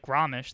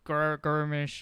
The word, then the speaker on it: Gromish: and i was like gromish they were like they couldn't even pronounce it they were like what the is that people would call them like garmish or some [ __